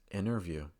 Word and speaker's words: interview: County County so again these are words that have the letter n followed by the letter T and the T goes silent this usually occurs when